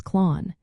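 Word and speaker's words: clann: The second word is clan pronounced approximately as clon.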